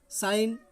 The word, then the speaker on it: sign: एन से पहले जी साइलेंट, तो जी को हम नहीं पढ़ते हैं, नेट। दूसरा दिया है साइन, SIGN, साइन, साइन means किसी भी चीज़ का चिन्ह।